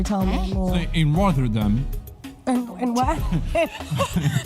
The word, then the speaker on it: Rotterdam: It's double T. Rotterdam. Yeah, Rotterdam. That's how you say it, right?